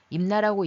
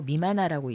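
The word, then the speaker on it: 任那: 일본 서기에 나오는 임나는 임나라고 읽으면 안 되고 미만화라고 읽어야 됩니다.이 미만화는 왜 미만화라고 읽어야 되는지는 이제 강의가 진행되면서 뒤에서 다시 말씀드리고요.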